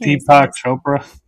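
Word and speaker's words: Deepak Chopra: I can't Deepo Chopra.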